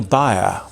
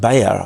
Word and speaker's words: Bayer: at the German company buyer or probably better pronounced Bayer I suppose but you